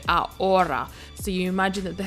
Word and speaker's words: ahora: aura is now now remember H in Spanish is silent so we don't say ahora we say our aura so you imagine that